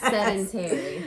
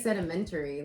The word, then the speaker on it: sedentary: body naturally becomes more I never say it right set a sedentary there we go I always say it wrong sedentary I didn't even want to go for it sedimentary like a rock I want to say